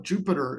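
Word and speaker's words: Jupyter: a Y so spelled incorrectly kind of like Jupiter is spelled with a Y incorrectly um this uh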